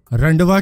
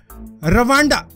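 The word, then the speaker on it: Rwanda: तो ये लैंग्वेज रंडवा की है, मिस्टेक है मेरी, ठीक है, गलत प्रोनाउंसिएशन कर दी मैंने। ये है रवांडा, रवांडा की है, रवांडा रुंडी लैंग्वेज।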